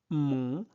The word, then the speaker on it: mon: Donc, dessins animés préférés, dessins animés préférés, Léa dit, Léa dit, mon, O-N se prononce on, mon dessin animé préféré, c'est Naruto.